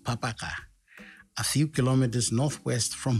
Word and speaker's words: Babaka: nay sam comes from babaka village locally pronounced papaka a few kilometers northwest